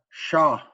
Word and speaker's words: sha: The next one we have sha. shaw, Sha. shaw. And so for this, there's like I said, there's different dialects and stuff. Some people say duta for sha. That's like the old word.